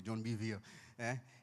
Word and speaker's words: John Bevere: É assim que eles pronunciam o nome dele, John Bevere.